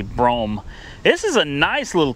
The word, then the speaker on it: Brougham: Cadillac bro is that did I say it right bro I know it's Broham right look at my Broham Cadillac now I'm pretty sure it's actually brome this is a nice